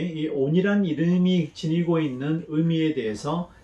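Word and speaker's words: אָוֶן: 여기에 야곱의 허물을 보지 않는다 했을 때 이 허물이 바로 또 온을 번역한 것입니다. 이 온이라는 단어는 또는 아벤이라고도 발음하기도 하는데요.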